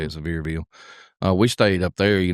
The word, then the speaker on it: Sevierville: I think it's how you say it, Sevierville.